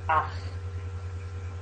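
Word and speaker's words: אח: The brother in the family, if any of you grew up with brothers, makes you go ach, and that's how you say it in Hebrew.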